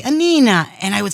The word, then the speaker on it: Anina: In closing, what we like to do, Chef Anina, am I pronouncing it right? That's perfect. Which means little Anna. And that's what that's why Chef Anina.